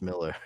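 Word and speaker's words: Millar: not oh and also it's pronounced Miller I know it's it me up too it's it's Mark Miller Scottish people man it's it's like you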